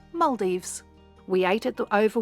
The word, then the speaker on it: Maldives: is also here that I learned the correct pronunciation Maldives we ate at the over water Italian Vista